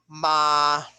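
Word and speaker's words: 妈: Okay, on the first syllable that is pronounced ma, ma, mother. Ma, ma, that means hemp. Ma, ma, that means horse, caballo.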